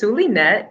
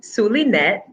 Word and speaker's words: Zulynette: questions but sure so my name is sulinet you may call me suleinet that's how you pronounce it um i am a